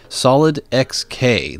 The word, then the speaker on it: SolydXK: solid not solid snake or solid oop solid xk the linux distribution apparently that's how it's pronounced and i'll tell you